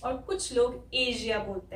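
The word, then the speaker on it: Asia: लेकिन यहाँ पे सिर्फ एस है, लेकिन इस एस की साउंड यहाँ पे श है, इसलिए ये ए, शी, या।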